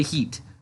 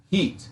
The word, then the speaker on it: Heat: the bucks its heat there's no ass at the end the heat will say it right I will mute your mic say heat heat thank you well that's